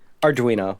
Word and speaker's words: Arduino: recreating sega's columns with arduino which i mispronounced how do you pronounce that arduino yep okay you got it right you just didn't say it fast enough for it to sound correct oh okay so this